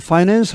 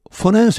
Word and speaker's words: finance: 여기 FINANC에는 세 가지 정도 발음이 있습니다. 저처럼 finance 하는 경우도 있고 이게 이제 가장 전통적인 발음입니다. 그리고 finance 이렇게 앞에 I를 좀 더 약화시켜서 그냥 finance가 아니고 그냥 finance로 하는 경우도 있고 또 아예 강세를 이름절로 옮겨서 finance 이렇게 하는 사람도 있습니다.